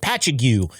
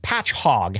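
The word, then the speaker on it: Patchogue: Pagu. Uh It's actually patch hog spelled Pat Cho Gue.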